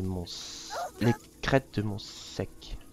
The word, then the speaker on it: Monsaic: Salut tout le monde, c'est Hartman et on se retrouve pour le troisième niveau de Hot World, les crêtes de mon sec, ça se prononce comme ça.